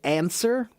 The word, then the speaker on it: answer: hated spelling this word because the word answer doesn't sound like what it looks like. It looks like it should be an And it should because